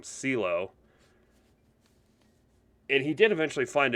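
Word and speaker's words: Cylo: believe his name was it's spelled c-y-l-o so i don't want to say kylo because you know obviously kylo ren but i'm going to call him ceelo and he did eventually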